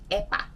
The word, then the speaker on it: epä: So the equivalent to that in Finnish is epä. It's a bit tricky to pronounce, so let's practice together. Epä, epä, epä, epä, epä, like the cat, that short A sound.